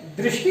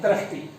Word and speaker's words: दृष्टि: यहां पर ये दृष्टि बोलना चाहिए, दृष्टि, और हम इसका उच्चारण करते हैं दृष्टि। पृथ्वी उच्चारण करते हैं पृथ्वी। तो ये जो है गलत है, यहां पर हम क्या